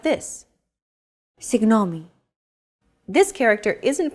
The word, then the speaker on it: Συγγνώμη: Συγγνώμη. This character isn't pronounced using an English G sound at all. Γ. It's like a very soft, continuous, and loosely held G, almost as if you're gargling, but don't make it sound too throaty.